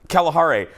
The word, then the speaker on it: Kalahari: The rest of the trip, and now it's called, the real name is the Kalahari, the Kalahari Resort, but I went like this, I go, oh, look over there, it's the Kalahari.